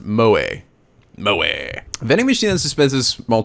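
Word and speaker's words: moe: characters who possess just Stace pronounced mo mo vending machine suspensive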